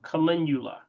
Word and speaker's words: calendula: Calendula. How you spell it? Calendula. Some call it calendula or call it calendula. Either way.